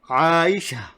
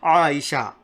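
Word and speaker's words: عائشة: Jannatu becomes Jannah, and Aishatu becomes Aisha, right? Aisha. That's why we wouldn't even pronounce these. This letter. Most of the time we would just say Aisha, just as if it's an alif. But it's not an alif actually. It's a ta marbuta.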